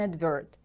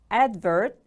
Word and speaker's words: advert: Now you can see an advert. Advert is a noun. It is a public promotion of some product or service. Advert. The stress is on the first syllable.